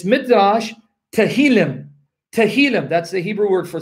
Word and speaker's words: Tehillim: Tehillim, that's the Hebrew word for Psalms. Tehillim. Tehillim. Tehillim. Abdul Halij, how's my pronunciation?